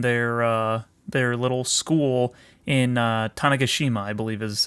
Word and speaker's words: Tanegashima: With his friend Akiho the only two members of the Robotics Club in their their little school in Tanegashima, I believe is how you pronounce the place.